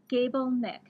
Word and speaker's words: Gabelnick: get the website right is it gable like gable without the e ni ck gable Nik GA b l ni